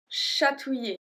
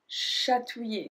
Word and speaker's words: chatouiller: Chatouiller. Chatouiller. To tickle. Chatouiller. So, touiller. Ouiller. Ouiller. So, we don't pronounce the L.